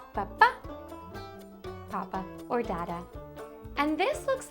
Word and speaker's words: papá: Papa in Spanish is papá. Same thing. Sounds similar. Just a little accent on the end. So it's papá, papa, or dada.